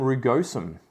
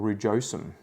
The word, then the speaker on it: rugosum: single single one philodendron rugosum or rujosum however you want to pronounce it so this one